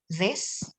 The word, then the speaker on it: this: is a short I this this and this one is a long e these these and with